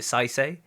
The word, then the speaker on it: Saisei: So that's what says is it Saisei if I say it right Yes.